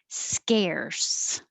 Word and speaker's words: scarce: this pattern infrastructure infrastructure scarce so the vowel is e well air that makes air so if it sounds like skier so your tongue is starting to high keep it down lower sk scare scares seven